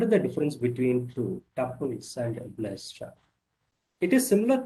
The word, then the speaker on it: tuples: Please note it is pronounced, should be pronounced as tuples. You can also pronounce as call it as a tuples.